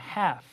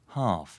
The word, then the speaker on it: half: 단어 렇게 어라고 하십니다 여기서 L sping은 자 철자 letter은 silent 소리가 아예 나지 않습니다 예 Dark가 아니에 그냥 half 바로 F 사운드를 하시면 됩니다 자 그런데 영국 친구들은 이렇게 발음을 해요 half 되시겠죠 half 라고 말